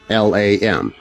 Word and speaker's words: Lam: The entity he contacted or believed he contacted, he named Lam, L A M. Some pronounce it Lawn, but after a little research, I found that most people who know say Lam.